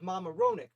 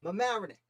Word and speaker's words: Mamaroneck: town my whole life i never heard it pronounced i thought it was the battle of mama ronic but how do you pronounce it my marionette mamanic the battle of mamanic also known as the